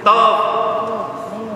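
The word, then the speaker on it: טוב: Now, how do you say good in Hebrew? Tov.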